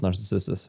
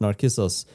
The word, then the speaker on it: Narcissus: You know the tale of Narcissus? We read it in psychology. It's where the word comes from, which is interesting trivia. What's his name? Narcissus. Narcissus. Yeah, because C is pronounced K in Greek.